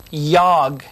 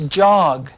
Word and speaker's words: jog: again another nonsense syllable it isn't a word yog this word is jog to run ready yog